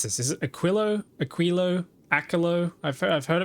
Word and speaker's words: Aquilo: Pronounce it as Aquilio. Wait, Aquilo.